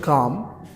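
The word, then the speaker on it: calm: এরপরে একটি শব্দ হচ্ছে কাম। উচ্চারণ কাম, কাম মানে হচ্ছে শান্ত, এখান থেকে হতে পারে কামনেস, হ্যাঁ, নিস্তব্ধতা, নীরবতা, এগুলো অর্থে।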